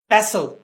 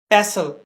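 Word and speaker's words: pestle: scissor कैंची scissor कैंची पसल हावन दस्ता पसल हावन दस्ता इसके अंदर याद रखिएगा टी साइलेंट है इसको हम पेसल पढ़ेंगे पेसल हावन दस्ता स्क्रू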